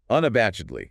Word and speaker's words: unabashedly: Five syllables. Unabashedly. Stress on the third syllable.